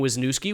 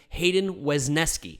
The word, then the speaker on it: Wesneski: cubs in exchange for hayden wisniewski which is who i talked about or wisneski was nesca i need to pronounce that correctly hayden wesneski scott afros is a little